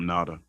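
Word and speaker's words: Ngata: I just call him Natada. Yeah. Hello Nata. Cuz the G is silent.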